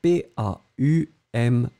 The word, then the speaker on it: paume: Le premier, c'est vraiment un O-O-O qui est comme ça, qui descend O.